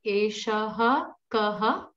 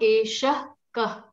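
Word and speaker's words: eṣaḥ kaḥ: Eshaha kaha? Correct. Eshaha kaha. It is not esha kaha. It's not that.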